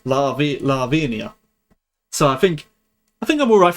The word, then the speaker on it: Lavinia: It's Lavinia.